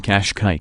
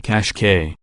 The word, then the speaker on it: Qashqai: sport is based on the European market Nissan Qashqai Qashqai though feel free to adopt my preferred pronunciation cash cow while the regular rogue is